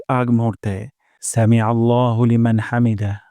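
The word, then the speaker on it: حَمْد: সাউন্ডটা নিচের দিকে যাবে হামদ হামদ আর হা উচ্চারণ করবো গলার মাঝখান থেকে হামদ রব্বানা ওয়ালাকাল হামদ রব্বানা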